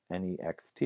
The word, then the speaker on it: next: So you might pronounce the word N-E-X-T, you might pronounce that as nex, right, without the final T there.